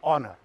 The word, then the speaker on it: honour: अब HONOUR ये है ऑनर, लिखते कैसे हैं? एच तो एच से हा होना चाहिए ना, तो ये हॉनर होना चाहिए, लेकिन बोलते हैं ऑनर।